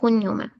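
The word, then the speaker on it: cognome: तो okay, first first of all name को कहते हैं नोमे, ठीक है, सरनेम को कहते हैं कुन्यो में। इसको ऐसे पढ़ते हैं हम्म।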